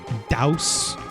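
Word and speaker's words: Dhaos: D not day not not chaos it's I'm pretty sure it's pronounced like douse if I'm not like dowsing of fire almost I think so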